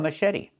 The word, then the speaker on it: machete: The ch makes a soft sh sound like in fish. Mush. And then Eddie. The t makes a fast d.